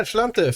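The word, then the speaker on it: Sláinte: Slante. How's my pronunciation, Irish person? Yeah, Slante for Ireland, he said.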